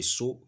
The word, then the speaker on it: sceau: Le saut qui convient ici, c'est le saut qui s'écrit en S, C, E, A et U.